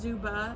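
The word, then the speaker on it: Xuba: we went to it's I think it's pronounced zuba it's x-u-b-a and it's a Taqueria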